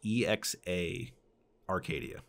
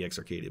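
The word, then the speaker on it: exA-Arcadia: Well, I guess it's properly pronounced EXA Arcadia. I've always called it EX Arcadia, but sorry, keep going.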